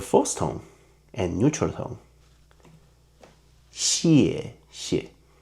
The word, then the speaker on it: 谢谢: 谢谢 original is 谢谢 but you need to put more strength and working on your throat, so we prefer the second syllable become weakened and softer, so it will be 谢谢谢谢谢谢 Okay.